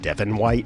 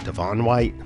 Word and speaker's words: Devon White: This minor character's name is actually pronounced Devon White and not Devon White, but we'll count it.